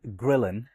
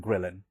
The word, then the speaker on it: ghrelin: if you want to Google it, let me spell that for you. L E P T I N and grillin. G H R E L I N. Leptin and grillin. Leptin and grillin.